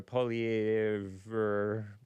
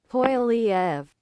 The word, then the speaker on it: Poilievre: Poilievre. Poilievre. Okay, so the R is silent, I guess.